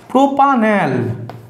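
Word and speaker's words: propanal: plus L অয়ফোলা এল দেখো এখানেও একই ই টা কাটবে ই টার উচ্চারণ আমরা করবো না তাহলে কি হয়ে যাবে প্রোপ আন এল প্রোপ আন এল ওটা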